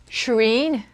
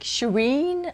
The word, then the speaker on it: Shirin: girl who is named Shireen yeah but it's pronounced like she read so it's like Shireen I guess because I think that I'm saying Shirin and it's not right